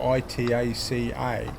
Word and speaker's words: Itaca: That's spelled I-T-A-C-A.